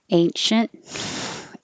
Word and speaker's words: ancient: making agent asian ancient i sounded like a cha ancient agent like travel agent or